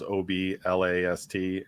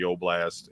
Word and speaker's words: Oblast: It sounds like it's spelled like it sounds OBLAST, and you'll find Oblast with Don and Kevin, sometimes called Kevin's Oblast Radio.